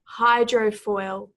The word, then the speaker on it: hydrofoil: have this word here hydrofoil hydrofoil this is a very interesting word in that the emphasis is both on the first and the final syllable here effectively if a